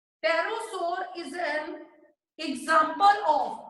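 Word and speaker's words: pterosaur: एक एग्जांपल है जो पी से स्टार्ट होती है, प्रोनाउंस टी से होती है, उसे बोलते हैं टेरोसोर।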